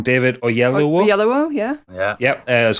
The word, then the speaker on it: Oyelowo: David, I always get his surname wrong. David Oyelowo.